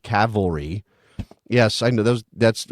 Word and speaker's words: Cavalry: mispronunciation last time because I said Calvary instead of Cavalry yes I know those